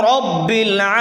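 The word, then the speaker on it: ربّ: রহমানির রাহিম হবে আলহামদুলিল্লাহি রাব্বিল আলামিন আলহামদু লিল্লাহি আলহামদুলিল্লাহি রাব্বিল এখানে রাব্বিল হবে না অনেকে আমরা ভুল করে রাব্বিল পড়ি রাব্বিল আলামিন পড়ি রাব্বিল হবে না রব্বিল রব্বিল আলামিন আলামিন এখন একটু খেয়াল করেন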